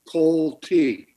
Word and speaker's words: Coltey: gonna first of all tell you how to pronounce my name thank you my name is cole t right i was born